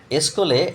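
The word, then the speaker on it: σχολή: স্কুলে এই ওয়ার্ডটির সংক্ষেপে একটি বিস্তারিত বলে দিন। স্কুল শব্দটা নিয়ে সংক্ষেপে বিস্তারিত বলছি দাদা। উৎস স্কলে শব্দটা এসছে গ্রিস ভাষা থেকে গ্রিক বানান। এই যে উচ্চারণটা উচ্চারণ স্কলে।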